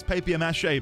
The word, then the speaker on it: papier-mâché: Papier, it actually is papier-mâché because it's French.